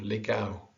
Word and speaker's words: legal: that's not easy because the tendency for an english speaker is to really pronounce the el quintal legal brazil but the l disappears becomes a w almost but a very muted one okay the m